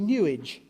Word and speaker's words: New Age: click blunt shoveling the the proper pronunciation of New Age is actually New Age it rhymes with sewage the discarded remnants of